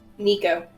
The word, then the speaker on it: Nico: I will put my hand on, how do you pronounce it? Nico or Nico? Nico.